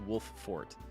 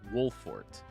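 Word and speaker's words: Wolffort: is made of it with the two fs in there it looks like it should be pronounced wolf fort but it's wolfort wolf fort wolf ort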